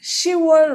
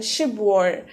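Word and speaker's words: 시월: would be ship cheater see how i pronounced october here as shiva rather than ship war because if you think of it it's hard to pronounce ship war when you're talking fast but then if you're saying sure it just kind of kind of flows out of your mouth the same way when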